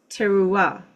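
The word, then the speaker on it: תרועה: The Strong's concordance is Hebrews or H 8643 and is pronounced tera.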